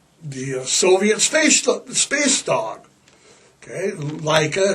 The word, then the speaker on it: Laika: Leica. It's spelled L A I K A. It's Russian. It's pronounced Leica.